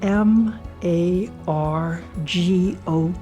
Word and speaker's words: Margot: Margo, you spell it M A R G O T. The T is silent, but Margo is not.